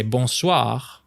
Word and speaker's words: bonsoir: And same thing for bonsoir. Good evening. Bonsoir. With once again, the rolling R sound at the end.